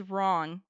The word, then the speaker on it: wrong: The next one is wrong. W R O N G. Notice the silent W at the beginning.